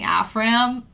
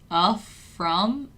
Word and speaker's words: Afram: So I keep saying Afram, but it's actually pronounced Afram.